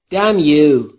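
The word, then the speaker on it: damn: لق وراج بیگ ماوث دمیو همون طور که گفتیم ان در دم تلفظ نمیشه دمیو یعنی لعنت به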